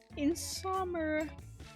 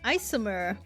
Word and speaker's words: Isomer: Insom insom me is Isomer. Isomer. I read her name wrong as we were listening to earlier.